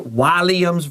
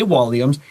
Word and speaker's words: Walliams: The reason you might hear Walliams versus Walliams, I'll say Walliams, it's just a vowel difference. That short A and that schwa sound in England and America are a little different.